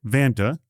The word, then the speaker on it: Vanta: That's why Vanta, it rhymes with Santa, it's easy to remember, is here.